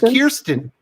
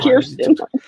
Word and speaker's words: Kirsten: Not for Kirsten. Or Kirsten. It's Kirsten. Come on. Kirsten. Oh my goodness. You're going to disrespect her and say her name wrong.